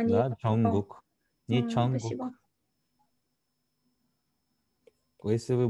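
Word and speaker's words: 정국: Имя Чонгук пишется Чонгук. Получается Джонгук, да? А не... Да, Чонгук.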